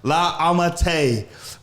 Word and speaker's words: La Ammitai: I said that right? Yeah, you said it right. La Ammitai for her Black Business Month interview.